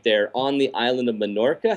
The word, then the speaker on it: Menorca: and photography right there on the island of Menorca. How do you say that? Yes, Menorca.